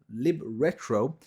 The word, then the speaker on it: libretro: The Windows libretro is for the libretro emulator. So I keep saying it wrong.